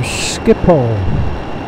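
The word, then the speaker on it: Schiphol: uh little airport there they call skipo they don't pronounce they don't spell it that way and that's just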